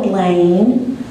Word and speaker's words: Blaine: Blaine, think about it as rhyming with rain, even though it's spelled B-E-L-I-N.